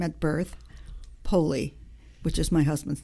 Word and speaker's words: Poli: which is my given name at birth poli which is my husband's name so wait wait